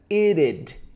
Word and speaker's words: it'd: Então, esse it, be, pronúncia it'd, it'd. It'd be, it'd be.